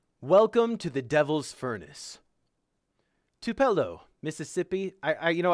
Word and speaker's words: Tupelo: be okay welcome to the devil's furnace two two pillow to Tupelo why am I doing audiobooks guys I can't pronounce words I don't know what that word is t-u-p-e-l-o Tupelo Tupelo Tupelo Mississippi has long been known